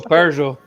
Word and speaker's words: Peugeot: do you pronounce it he's your Peugeot exotic a pug ET if you're from South London how many ways would